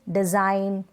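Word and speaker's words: design: जैसे कि डिज़ाइन, फॉरेन, साइन, Nash, align. यहाँ पर जी जो है एन से पहले है, तो यहाँ पर इस जी को हम प्रोनाउंस नहीं करें, जी यहाँ पर साइलेंट है।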